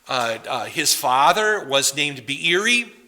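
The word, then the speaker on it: Beeri: his father was named bieri you can put a little apostrophe or hiccup in the middle of his name be biri and if some ancient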